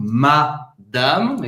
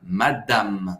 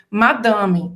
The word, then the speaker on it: madame: Acaba no M. Madame. Madame. Você não pronuncia o E no final. E presta atenção porque o A, esse segundo A da palavra, ele não vai ficar nasalado, porque geralmente em português vai dizer madame. Não é madame, é madame. Madame. Os dois A's são abertos, não são nasalados.